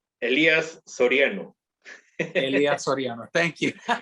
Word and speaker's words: Elias Soriano: pronouncing my name right elias soriano elias thank you not not elias elijah you're allowed as you're right in that sir there's no jay all right man god